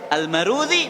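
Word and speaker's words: المروذي: dalal tulisannya persis sama Tapi bacanya almudzi dan almarwazi Al Imam marwazi rahimahullah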